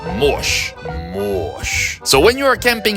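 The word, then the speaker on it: mouche: tap slap mush means fly and it is pronounced mosh so when you are camping in the province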